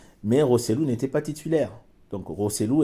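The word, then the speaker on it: Joselu: il s'appelle euh joséou voilà rosselou si on prononce bien en espagnol mais roselou n'était pas titulaire donc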